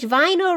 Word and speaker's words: vinyl: I don't English vinyl rhymes with final.